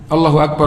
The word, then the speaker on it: Allahu Akbar: juga tadi bahwa azan itu disunahkan membaca takbir Allahu akbar Allahu akbar dengan satu nafas Jadi bukan Allah